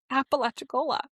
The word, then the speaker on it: Apalachicola: I believe the town's name is Apalachicola. Apalachicola? Apalachicola. They don't have Is it spelled Apalachicola? Kind of. It's spelled a p a l a c h i c o l a.